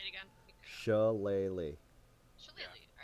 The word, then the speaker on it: shillelagh: Because no one can tell me how to pronounce it. Ugh, not even Google. It's Shillelagh.